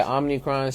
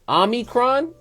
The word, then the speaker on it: Omicron: to tap in with it but yes sir omnicron sounds like a decepticon bro it does i know it's on look at how it's spelled is is omicron like ami like as in have you ever